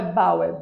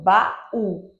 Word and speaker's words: baú: Baal né porque para ser um único som teria que ser Bal não é Bauer baú baú então tem uma pausa se tem uma pausa tem uma separação então elas estão em